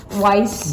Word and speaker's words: Weiss: Lance Johnson, Willie Fraser, Jim Clancy, Jim Rice, 2 Jims, Walt Weiss. Rhymes with rice.